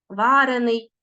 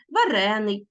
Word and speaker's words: варений: виражають постійні ознаки і можуть змінювати наголос варений печений тобто в таких дієприкметниках які е-е стали прикметниками в основному наголос переходить на закінчення або ж на суфікс а в дієприкметниках наголос залишається на корені Отож дивимося прикметники утворені